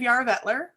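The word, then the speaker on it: Jararvellir: Yes, I am in the Barony of Yarra-Vettler, which is out of Madison, Wisconsin. That's how you pronounce it, Joel.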